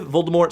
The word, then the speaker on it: Voldemort's: Voldemort's supposed to have the word death in it more, so don't pronounce the T.